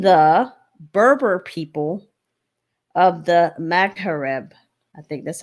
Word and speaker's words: Maghreb: Pronunciation. Okay, let's do this. Okay. Maghreb.